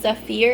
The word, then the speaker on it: Zephyr: was the code cell I believe it's pronounced Zafir it's c-e-p-h-y-r and then just a